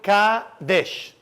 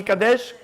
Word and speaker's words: Kadesh: to the 15 stages stage number one is called Kadesh say after me Kadesh great now Kadesh as you know it sounds like the word Kad Kad kadosh holiness there's many many meaning